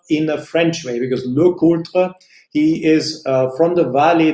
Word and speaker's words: LeCoultre: what you want but I will continue to pronounce his Yaga Lakota I say Yaga in a more German way and look older in the French way because locota he is from the valley Lulu and he